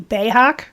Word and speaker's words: Beathag: Well, I don't know about German, but in Scottish Gaelic, my name would be Bayhak. Really? Yeah, which I'm sure sounds a little bit more like Klingon if I were to pronounce it properly. That was sort of a butchered pronunciation. But my dad told me that once, and I was like... It's spelled like Beathag or something like that.